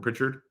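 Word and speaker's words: Prichard: that not house pronounced is it Pritchard oh like Richard with Pritchard is that right Pritchard oh my bad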